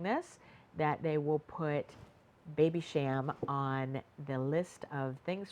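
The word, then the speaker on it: Babycham: Dear, and it was a play on the Baby Sham, that's the way you pronounce it, the Baby Sham uh beverage that um was created in the UK in 1953.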